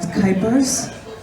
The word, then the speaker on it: Kuypers: My name is Kuypers. Rhymes with hyper, though I won't be hyper right now.